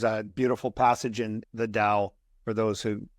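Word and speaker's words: Tao: there yeah there's a beautiful passage in the Dow for those who it's it's it's spelled ta AO but it's pronounced Dao and I think it's the 49th verse and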